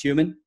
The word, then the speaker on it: HVMN: the company and then the acronym is human h v MN but it's pronounced human we pronounce it by